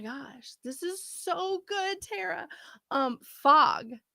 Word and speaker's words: Terra: your name is spelled tara mitchell t-e-r-r-a it's like terra cotta okay i love the